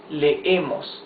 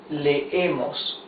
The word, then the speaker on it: leemos: Now look, you can see there, these are double E's. Double E's, you pronounce them. It's not a long E. It's, you make like a stop. Lee, okay? Él lee. Yes? As if you try to pronounce two E's together. Lee. Or nosotros leemos. You see, you pronounce both E's. Nosotros leemos. That means we read.